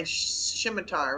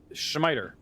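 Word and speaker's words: scimitar: for you it's my shimitar right yeah which the first time i played this game i pronounced as uh schmeider nothing like a dyslexic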